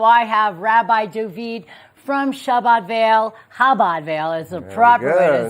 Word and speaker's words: Chabad: Passover's coming up on the 5th, so I have Rabbi David from Chabad Vail is the proper way to say it.